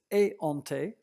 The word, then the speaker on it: éhonté: It's éhonté with no t.